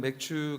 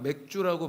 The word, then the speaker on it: 맥추: 오늘은 맥추 감사주일입니다. 오해하지 마십시오. 자꾸만 맥주라고 발음하시는 분들이 계시더라고요. 오늘은 맥추 감사주일입니다.